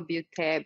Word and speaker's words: Beaute: It's Butte. Butte is spelled Beaute, and I post every single day.